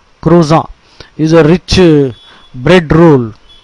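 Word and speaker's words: croissant: remind you it's a croan croan is a breakfast bread roll c r o i SS a n t it's a French word so the t is silent croan is a rich bread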